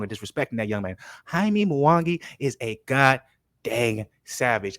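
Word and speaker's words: Jaime Munguía: better check it out hi me moana oh and excuse me because i'm gonna be corrected haimi mawangi let me pronounce his name right because i'm tired of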